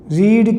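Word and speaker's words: read: रीड की third form रीड ही रहती है, रीड रेड रीड, स्पेलिंग वही रहती है, बोलते हैं रीड रेड रीड, third form रीड।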